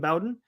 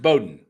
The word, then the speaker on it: Bowden: resident exgen manager Jim Bowen handed out pronounced Bowden pronounced Bowden Bowden yes Bowden it out preseason like roer not R not Bowen Bowden Jim Bowden as in